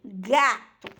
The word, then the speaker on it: gato: do ir mas isso diante de a ou u tem um som de gay certo diante do a o tem o som de gay exemplo gato gato certo gota Gula que legal